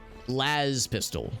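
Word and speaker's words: las pistol: we're heading right now Laz pistol yeah with a long a gotcha like Hazard lastz pistol that makes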